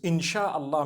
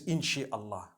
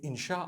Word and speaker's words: inshallah: together inshallah inshallah but we know in the Arabic it's three separate words if Allah Wills right how do you say create Allah you would say is the it is the instruction right the command inchi means to create no one says inshi Allah they say insha Allah that's what it